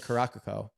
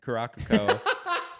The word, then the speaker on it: Curaçao: Curaçao. Okay. Yeah. I've been saying Caracaco. Caracaco. I like that better. So Germany and Curaçao were facing off, and as much as this